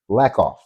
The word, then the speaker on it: Lackoff: Her name is not hard to say, Lackoff. It's 2 syllables.